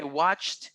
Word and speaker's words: watched: All right, I watched you on YouTube yesterday. That ends with an ED, but it sounds like a T, watched.